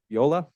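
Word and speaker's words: Veolia: in Nampa and works for the water company Viola that's how you say it they have three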